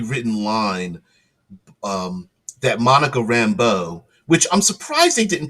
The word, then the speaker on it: Rambeau: line um, that Monica Rambeau, which I'm surprised they didn't pronounce her name in the Cajun French style, as in Rambeau, like a loved one, a beau, Beau, rather than Rambo, which is Rambo, like like it that